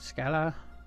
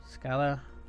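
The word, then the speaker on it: Schala: And Scala, yeah, I think that's how you pronounce that. Scala. Kind of like saying school, but Scala.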